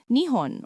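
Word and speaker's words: 日本: And so, we have a country whose very name means the place where the sun rises, Nihon or Nihon. When the Chinese heard this name, they pronounced it Zhuben, which literally means sun root or bottom.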